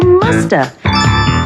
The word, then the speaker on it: must have: mean must have been we can say must have in conversation and sometimes we don't pronounce the V and so you hear Musta she must have been